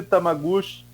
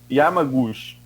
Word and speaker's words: Yamaguchi: Sem querer fugir da centralidade da questão, assistimos hoje, no caso ontem, ao questionamento da doutora Anise Tamaguchi. É assim a pronúncia do nome dela? Nem tem muita. Yamaguchi, que reafirmou teorias de tratamento precoce e imunidade